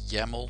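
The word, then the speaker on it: YAML: touch Travis dolt yml you pronounce this Jamo yet another markup language and actually I'm already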